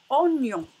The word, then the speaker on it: oignon: Donc, le ni, le son ni avec le son O, ça se prononce nion. Nion. Comme dans le mot oignon.